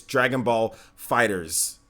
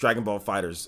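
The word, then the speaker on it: Dragon Ball FighterZ: you my bad guys on the pronunciation it's Dragonball fighters just Dragonball fighters it's with the ass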